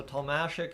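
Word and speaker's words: Tomasek: I've I've um I've struggled with that all preseason ever since they said it's more like Dominic Hashik. So Tomasik is I think how it is properly pronounced.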